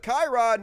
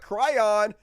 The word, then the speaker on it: Chiron: It's pronounced Chiron, not Cryon.